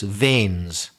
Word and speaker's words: vein: say is varicose vein that word vain is spelled v i n vain the little um pipe let's say little tube where your blood flows don't confuse it with v i n which is also pronounced Vain and some people are